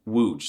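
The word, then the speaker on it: łódź: You see, the L with a stick going through it makes a W sound. And the O with the kilbasa makes the ooh sound. So yes, this is the Polish equivalent of and then the Z with the kilbasa on top of it makes the sound loads. I mean, wooge, sorry, it uh takes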